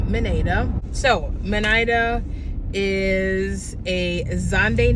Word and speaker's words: Zande: born into is zande AZ a n d e yes it's not a zande it's just zande so zande is not